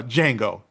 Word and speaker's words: Django: Uh Django, the D is silent.